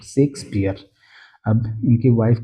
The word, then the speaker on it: Shakespeare: और इनका जो सही प्रोनाउंसिएशन है पढ़ने का। तो सेक को आप पहले पढ़े फिर स्पीयर को। तो शेक्सपियर।